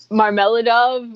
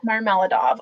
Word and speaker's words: Marmeladov: now because how do you say that christy marmeladov was what i mean okay what you said yeah marmaladov okay so how does the reader feel about